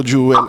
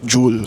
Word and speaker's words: jewel: niya, hindi daw jewel ang pronunciation yun, dapat jewel. So one syllable lang siya, diba?